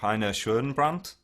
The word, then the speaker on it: Rainer Schoenbrandt: checking out earlier was now I'm going to have a stab at the name, but you can correct me when I mispronounce the name. Rainer Schoenbrandt. Ah, yeah, right. Yeah, that's really good, actually. That's perfectly pronounced.